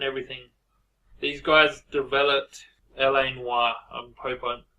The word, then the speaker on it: Noire: These guys developed LA Noire.